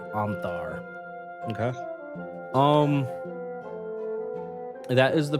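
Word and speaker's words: Ontharr: an individual named Anar it's spelled o n t h a r r o n t h a r r Anar okay um that is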